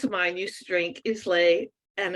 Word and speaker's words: Islay: Well, an ex of mine used to drink Islay, and it was pronounced Islay, Scotch, and it's spelt the same, but not pronounced the same.